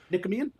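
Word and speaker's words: Nicomachean: I can never pronounce it. Nikkamian. Nikameian ethics.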